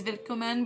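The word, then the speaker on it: Willkommen: are like welcome is vicomin but it's spelt like wilkoman but it's pronounced with a v even though it's a w that kind of stuff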